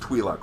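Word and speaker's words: Twi'lek: you know you know it's pronounced twee luck right uh i am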